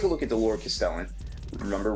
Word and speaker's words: Castellan: So if we take a look at the Lord Castellan, remember, rhymes with repellent, not to be confused with the guy that was released last week.